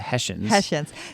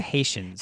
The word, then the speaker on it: Hessians: I type it in, and it's the Hessians. So King George she kept saying the Haitians had paid troops for hire.